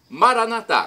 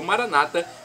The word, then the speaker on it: Maranata: onipotente Deus todo poderoso Maranata como dizemos nós católicos ou Maranata como dizem nossos irmãos evangélicos ou Protestantes não importa a pronúncia vem do aramaico de